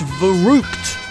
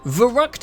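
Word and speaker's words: Verrückt: This one is actually pronounced Verruckt, I think.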